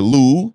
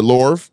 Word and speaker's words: Louvre: New York, DC, the Lou, and the Louvre. Nothing pisses French people off more than mispronouncing their shit. Yeah, you pronounce that R.